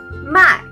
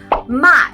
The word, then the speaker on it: 卖: 我买了 The second, 卖卖 Sounds really similar to 买, right? These two words are actually have the same pronunciation but different in tones. 卖 attention, it's a forced tone.